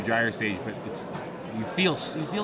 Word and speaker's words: Gyre Sage: Is it Gyre Sage or Gyre Sage? It is Gyre Sage, a soft G.